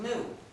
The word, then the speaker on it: gnu: countless word plays because according to the dictionary the g is silent and the word is pronounced new so every time you